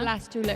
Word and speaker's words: blastula: Blastula. It rhymes with gastrula.